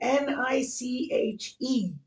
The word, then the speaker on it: niche: Okay, N-I-C-H-E. That gives a lot of people problems. A niche. It's another French word.